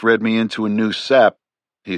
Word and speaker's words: SAP: The chief read me into a new sap, he said, pronouncing the acronym like the stuff of pine trees, short for special access program.